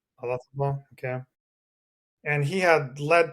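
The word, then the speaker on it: Olazábal: I remember seeing Jose Marie Olazabal. Is that how you pronounce his last name? Olazabal.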